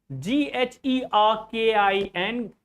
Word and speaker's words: gherkin: So, g h e r k i n this is gherkin a small variety of pickled